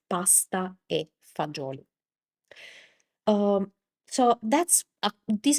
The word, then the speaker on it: pasta e fagioli: So, that in Italian is pasta e fagioli classical combination of Italian cuisine. pasta e fagioli Here we have the dropping of the of the final vowel of pasta and also the the G of fagioli turned into a Z, but actually this is